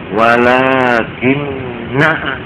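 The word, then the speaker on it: لٰكِنَّا: dalam surah Kahfi itu ternyata na yang ada alifnya itu Win itu tidak boleh dibaca panjang wakinna wakinna Kenapa kok ya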